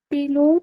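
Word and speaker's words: Pilot: अच्छा ये German alphabet के हिसाब से कैसे प्रोनाउंस करेंगे पायलट को? पिलोट।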